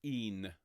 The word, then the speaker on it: even: We then start this next section, and it's written even, but it's pronounced een, E-E-N.